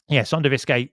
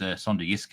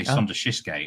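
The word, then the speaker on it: Sønderjyske: The last few times I pronounced SonderjyskE, I got it wrong. I used to say SonderjyskE, and he correct.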